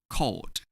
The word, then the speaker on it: called: We pronounce ed as d when we add ed to verbs in group 3. Called.